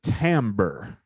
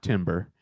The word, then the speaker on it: timbre: ready to pronounce this the timbre timbre not timber timber believe me or not that's how you pronounce it and so that that